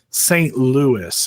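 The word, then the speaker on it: St. Louis: it's my it and I say this word wrong St L I say St L wrong my my wife and everybody reminds me it's St Louis I'm like no it's St Louis so it's my St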